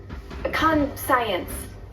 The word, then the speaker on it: conscience: have a dirty con con science it's pronounced conscience you've never heard that